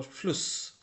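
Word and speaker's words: Fluss: না এটা শিফ এরকম ভাবে বলতে হবে তারপর ফ্লুস ছোট করে বলতে হবে তো সেটাই এখানে শিখানো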